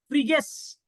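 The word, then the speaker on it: Phryges: ठीक है, पर इसका प्रोनाउंसिएशन अलग है, फ्रीगेस इसका प्रोनाउंसिएशन है। फ्रेंच आदमी लोग है, वो लिखता कुछ है बोलता कुछ। ठीक है, तो इसका सही जवाब है फ्रीगेस।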